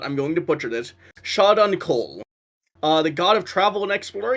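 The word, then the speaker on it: Shaundakul: I actually got it pretty close to how it's pronounced. Yes. Uh, shot on call.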